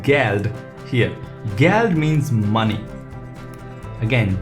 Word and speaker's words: Geld: And the pronunciation in a word itself is G, so it's called Geld here. Geld means money. Again, G is pronounced as G and the pronunciation is Geld.